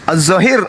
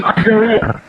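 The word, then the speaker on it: الظاهر: Allah itu Zahir Gimana azzahir ada pasti Kenapa di diik bukan azahir loh itu azzahir bacanya bahasa Indonesianya aja itu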